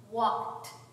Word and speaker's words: walked: Now, let's try it with walked. Walked. No buzzing. So it's a T.